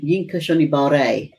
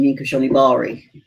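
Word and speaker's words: Yinka Shonibare: quite a few times and his name is pronounced y yinka shibare but I'm so used to saying yinka Shibari don't be surprised if I forget now yinka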